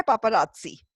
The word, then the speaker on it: paparazzi: वो पापाराजी नहीं है स्पेलिंग तो PAPARAZZI है पर उसकी प्रोनाउंसिएशन है पापाराजी ठीक है पापाराजी ओके